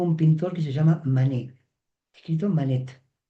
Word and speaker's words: Manet: Si queremos ser rigurosos con la pronunciación francesa, la e final debería acentuarse de tal manera que sería mané, tal como decimos moné, aunque hay una t que no suena.